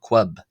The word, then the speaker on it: ⲭⲟⲩⲁⲃ: means holy or pure is pronounced as queb quqb uh with the first letter k sound uh as a k first letter as a k sound and the second two